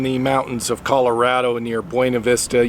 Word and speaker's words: Buena Vista: mountains of colorado near buena vista yes i pronounce it the spanish way locals don't say that they say buna vista but anyway today i've